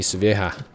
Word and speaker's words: Sevilla: Get me Sevilla.